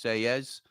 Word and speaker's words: Selles: Joe says correct Selles pronunciation is Selles, like paella.